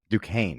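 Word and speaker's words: Duquesne: know how how do you say that due du Kane okay I would have got that so wrong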